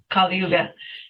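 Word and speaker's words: Kali Yuga: sin stuff especially I don't know how to pronounce the um the title of the record is it kuga yeah that's right kuga the song I've listened to uh obviously is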